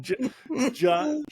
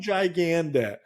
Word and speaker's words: Gigandet: Cam Gigandet. He's the bad guy. He was in this movie. Is what kind of put him on the map. I would say Gigandet. That's how I pronounce it.